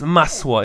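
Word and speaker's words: masło: And I call the company Maslo Rugs, pronounced Masswa in Polish, which is butter.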